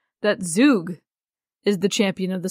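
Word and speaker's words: Zugg: I would say Zug, because it's Z-U-G-G.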